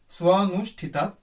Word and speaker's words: স্বনুষ্ঠিতাৎ: কিছু কিছু সন্ধি নিয়ে উচ্চারণ করলে ভালো লাগে, এটা সেরকমই একটি সন্ধি। স্বনুষ্ঠিতাৎ, সু অনুষ্ঠিতাৎ, স্বনুষ্ঠিতাৎ।